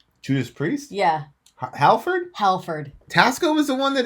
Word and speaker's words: Halford: Tasco will always be the guy that reintroduced I want to say Hatfield, but I don't think I'm pronouncing it right. Judas Priest? Yeah. Halford? Halford.